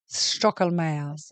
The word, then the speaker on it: Stoecklmayer: I mean, this beautiful name, this alliteration, so the Stoecklmayer, the SS, Stoecklmayer.